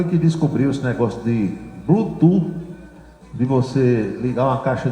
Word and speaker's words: Bluetooth: A pronúncia correta disso aí aqui no Brasil pra gente falar é Bluetooth. F de Francisco no final Bluetooth.